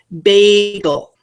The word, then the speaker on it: bagel: Think of the word bagel. Bagel. In that word, do you hear a vowel saying its name? I do. I hear the A saying its name. Bagel.